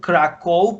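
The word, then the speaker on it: Kraków: this i mean kraku krakow is a written krakow but in polish language it should be like krakow they are polish people are you know uh pronouncing it krakow of course krakow it's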